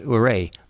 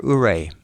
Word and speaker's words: Ouray: And yes, it's pronounced Ouray, like hooray for Ouray.